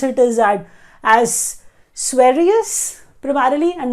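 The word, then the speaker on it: Sveriges: category it is economics and the way we pronounce it is that as swarius primarily and not swearidges people pronounce it like that so swarius rich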